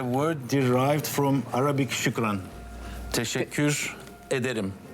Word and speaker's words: Teşekkür ederim: Teşekkür ederim. Teşekkür ederim.